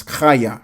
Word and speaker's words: Chaya: of this word is Chaya rather than Haya. And the meaning is very similar as well. The pronunciation is different because it's got the Cha on it.